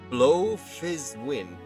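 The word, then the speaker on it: Bloefhiswyn: bwok Hall oh and the Admiral's name is pronounced blow fiz wind blow fwin Blowfish when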